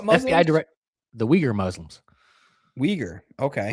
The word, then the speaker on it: Uyghur: Uyghur. Okay. Uyghur. Yep, that's how you pronounce it, but it's spelled really weird.